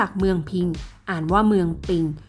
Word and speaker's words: ปิง: พิง อ่าน ว่า เมือง ปิง เพราะ เสียง ภาษา คน ล้านนา ออก เสียง ตัว พ พาน เป็น เสียง ป ป่า เช่น ภาษา ไทย กลาง